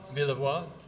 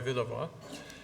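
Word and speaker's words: Villevoye: This is, of course, Roy, how do we pronounce his name? Villevoix, Roy Villevoix.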